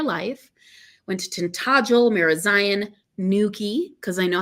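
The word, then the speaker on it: Newquay: of my entire life went to tentagel marazion Nuki because I know how to say it now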